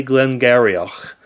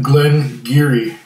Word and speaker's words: Glen Garioch: the whiskey is if you read it as it's spelled you'd say glenar but it seems that it's pronounced gleni and it's the founders reserved and will let